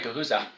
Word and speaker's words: Guhuza: I have here Mark Bles, the co-founder of Gahuza. Am I pronouncing that correctly there, Mark? That's right. Guza.